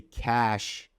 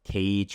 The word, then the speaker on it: cache: But if you say cash in a way of storage, then it is spelled this way, and it's not pronounced cage or cashy, or there are tons of different pronunciations I've heard.